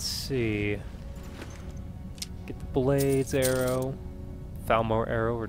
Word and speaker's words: Falmer: Felmer, I think they're is pronounced Falmer. I know. Oh, I keep saying like Fmore or something like that.